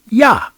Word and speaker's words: Jah: Now, we all know Jah is supposed to pronounce a little different than that. It's supposed to be pronounced like Yah with a Y. Remember the natives? Yahweh, Yah, Yah, Yah, Yah, Yah, Yah, Yahweh, not Jah, the letter J.